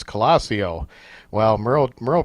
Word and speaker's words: Colosio: interview didn't even pronounce his name right it's colosseo Wow Muro Muro pronounced that wrong on purpose tell me about